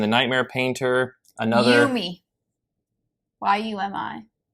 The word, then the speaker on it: Yumi: Y-U-M-I. You always say it like you, me, and the Nightmare Painter. It's very confusing.